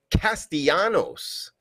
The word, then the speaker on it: Castellanos: ernesto in the chat saying it's pronounced castianos and he's getting rocked tonight pointing towards the arches i don't know do you agree with them there steve what are you thinking tonight castellanos yeah i mean well